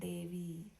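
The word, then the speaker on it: देवी: And again, over the I in Devi, it creates a long E sound, Devi.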